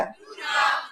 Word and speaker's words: गुरुग्राम: तो यह गुड़गांव नहीं है। यह क्या है ? गुरुग्राम। क्योंकि यह गुरु द्रोणाचार्य का गाँव था। यह किसका गांव था? गुरु द्रोणाचार्य। इसलिए बाद में, गुरूग्राम का गलत उच्चारण होता रहा जब तक कि यह गुरूगांव नहीं बन गया। गुरुगाँव, गुड़गांव, गुड़गांव— अंततः यही गुड़गांव बन गया।